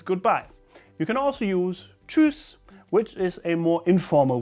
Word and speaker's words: Tschüss: Now Tschüss.